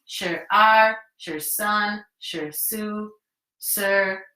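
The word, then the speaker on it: 二: How do you say that one? R. So it's E-R. 1, 2.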